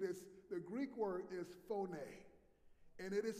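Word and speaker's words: φωνή: It is, the Greek word is phoné. And it is spelled P-H-O-N-E.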